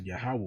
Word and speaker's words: Yahweh: When you see that, you see the tetragrammaton, which we pronounce as Yahweh, we believe through faith.